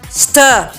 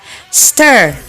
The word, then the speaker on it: Stir: Stir. Stir. Stir. That's how they say it in British English. While this one is American style. Stir.